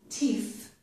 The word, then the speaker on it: teeth: So it's important to pronounce the final th, teeth, to distinguish it from this word, tea.